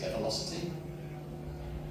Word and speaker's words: Develocity: by the Gradle company, I think they pronounce it develocity. I don't know, I always pronounce it dvelocity because normally dv means reduction. Why would you call the tool a reduction in velocity?